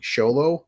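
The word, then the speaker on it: Xolo: actually sh so it's Show Low which I don't know where XO turns into show but his name is Show Low so I'm like I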